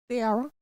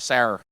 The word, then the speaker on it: Sara: Sarah. Sierra. How you spell it? S-A-R-A. S-A-R. Sarah. I say it Sarah, but you say it Sarah. Sarah. Okay. Sarah. Like the Bible.